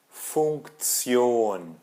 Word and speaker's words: Funktion: Tion, em alemão é como se tivesse um Z ali no meio. Tion, né? Kommunikation, Funktion, Funktion.